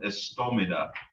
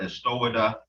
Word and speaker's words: istomida: The Istoichka, the Istoi, comes from Istomida, meaning to do something. This M right here will oftentimes be flipped upside down and pronounced like a W. So Istomida, Istowida both mean to do something.